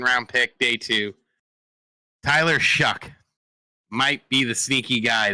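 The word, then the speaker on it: Shough: It's Shuck. It's pronounced Shuck.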